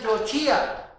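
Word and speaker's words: יוֹשִׁיעַ: Aquí lo explica, porque Él salvará, y la palabra Él salvará se pronuncia Yoshia.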